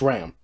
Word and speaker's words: Ram: It's Ram, right?